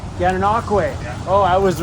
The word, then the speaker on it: Gananoque: Gananoque.